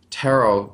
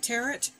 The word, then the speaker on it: tarot: please please please please stop pronouncing it teret yeah it is not a root vegetable so well could be